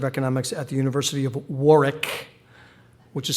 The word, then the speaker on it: Warwick: at the University of Warick, which is spelled W A R W I C to silly Americans like me. We often pronounce it wrong as Warwick.